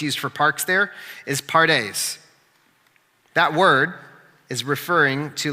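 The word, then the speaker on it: פרדס: So that word, it's pronounced pardes.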